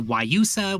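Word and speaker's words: guayusa: but not a latte go for the waiusa which again is spelled with g g u a y u s a look up song of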